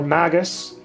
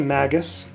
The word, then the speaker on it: Magus: lately notice Samurai there another a Magnus or Magus that's how you pronounce it Magus a squire from Final Fantasy Tactics again another